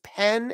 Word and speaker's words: pen: This word right here has the eh vowel, eh.